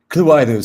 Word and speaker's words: CLUAIDO: So what inspired, is it CLUAIDO? Or I wasn't sure how to pronounce it. CLUAIDO.